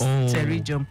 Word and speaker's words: pterygium: Not many people can actually pronounce pterygium correctly. Okay, got the P in front of them.